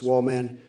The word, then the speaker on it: Woolan: Woolan, pronounced Wallman, do us all a favor and shut the fuck up.